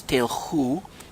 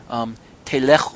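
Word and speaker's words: תלכו: if within my regulations telchu, you walk, literally. The root word is lech in there, to go. Telechu, I'm sorry, I didn't see the tzedrei there below the lamed.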